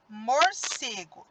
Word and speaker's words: morcego: Agora, vamos para a palavra morcego. Vejam só. Morcego. Então, quando eu pronuncio a palavra morcego, o C tem mais intensidade. Então, ele é a minha sílaba tônica.